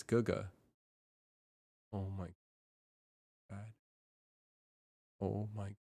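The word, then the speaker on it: 哥哥: I just pronounced that GG this whole time. It's Guga.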